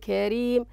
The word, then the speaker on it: كريم: لاحظوا تفخيم الراء هنا في وأقرضوا قرض أجر كريم. لاحظوا الفرق الآن. الفرق هنا في نطق الراء، أجر كريم كري ري، وهنا رو. إذن هنا تفخيم وهنا الراء مرققة. لماذا رققناها؟ لأنها مكسورة. بارك الله فيكم ونفع بكم الإسلام والمسلمين، أحسنتم.